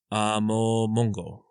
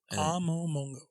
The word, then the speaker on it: Amomongo: be really careful pronouncing this because if I pronounce it wrong, it's going to sound weird to anyone that's Filipino. It's a Amomongo. Amomongo.